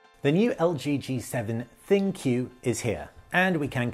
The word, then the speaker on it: ThinQ: the new LG g7 thinkyou is here and we can confirm it is pronounced thank you like thank you but thank you then q it picks up where